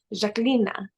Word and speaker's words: Zhaklina: Albanian around me and the way they say my name is jacquelina so like I grew